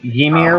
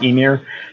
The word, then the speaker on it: Ymir: So I always say Ymir, which is wrong. It is Ymir, but I can't fucking help it because I've said it wrong my entire goddamn life.